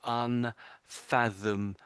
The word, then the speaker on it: unfathomable: So, but putting those all those sounds together, so it's fathom in the middle. So it's unfathomable, Un unfathomable.